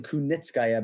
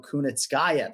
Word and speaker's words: Kunitskaya: And I'll give you props for pronouncing Kunitskaya because Ken-Flo, a lot of the Americans respect to you, but they want to go Kunitskaya.